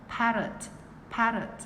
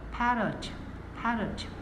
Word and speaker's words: parrot: Chữ T bật nhẹ ở răng ạ. Bật nhẹ trên răng. Parrot.